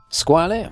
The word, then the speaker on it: Squale: Squale, or should I say Squale, if you want to pronounce it correctly in French, sono italiano, che vuoi?